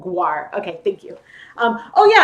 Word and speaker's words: guar: It's pronounced guar gum. Okay, so not gar, but guar.